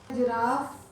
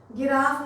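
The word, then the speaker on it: giraffe: पहला तो हो गया GeM, gentle, जिराफ, giant, fragile. देखिए इन सब में जी के बाद आई आ रहा है, हम उसको ज प्रोनाउंस कर रहे हैं, जायंट, जिराफ। गिराफ नहीं बोल रहे हैं, गाइंट नहीं बोल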